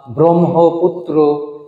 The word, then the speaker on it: ব্রহ্মপুত্র: এভাবে ব্রাহ্মণ, ব্রহ্মা, ব্রহ্মপুত্র, এই উচ্চারণগুলো আমাদের শুদ্ধ করে যেমন লিখতে হবে, তেমনি বলবার সময়ও এই উচ্চারণগুলোর প্রতি আমাদের সতর্ক দৃষ্টি রাখা জরুরি।